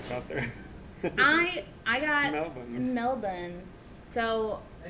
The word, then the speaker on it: Melbourne: Melbourne. So They tell you, okay, this is how you say it. I was like, we're going to Brisbane, Adelaide, Melbourne. And they were like, it's Melbourne.